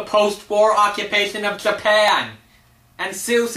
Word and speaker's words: Seuss: only medical expert called soy wrote a book about the post-war occupation of Japan I'm not even joking this book is actually about the post-war occupation of Japan and Seuss is actually pronounced so but that's not what